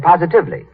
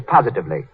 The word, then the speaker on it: positively: Mary Jane said positively. The word is positively, as in, the way Lux Flakes cut down stocking runs is positively miraculous.